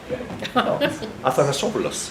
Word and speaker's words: Athanasopoulos: Athanasopoulos. It's the normal pronunciation. Northern Greek style.